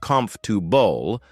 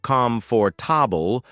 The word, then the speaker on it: comfortable: Take the word comfortable for example. Many people say it too quickly. Turning it into comf to bull. But slowing it down to come for toble helps with clarity.